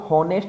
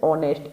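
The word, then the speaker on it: honest: इसको हम हॉनेस्ट नहीं बोलेंगे, ऑनेस्ट, एच कैसा रहता है, साइलेंट, तो ये लिखा जाता है ऑनेस्ट, ऑनेस्ट, ये हो गया ऑनेस्ट।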